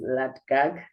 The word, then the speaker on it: LADGAC: So let's hear how you pronounce it and what they stand for. And the name of the institution is LA gag rehabilitation center which stands for limpopo anti-drugs anti-gangsterism and anti-rime.